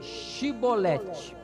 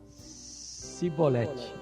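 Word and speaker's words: Shibboleth: só de atrair não então lhe diziam dise pronuncia pois xii bolette oxi bolette bem x xi boletim porém ele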